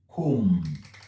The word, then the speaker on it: comb: As you can see, b ends the word, all right? B ends this particular word, this word, all right? But it is not pronounced. What we hear is comb. It ends here. It ends with the m.